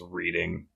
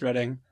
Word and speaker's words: Reading: of London oh I always read it as reading smell that way or no yeah it's spelled like reading but it's pronounced reading I'm sure you're no Carolyn so one I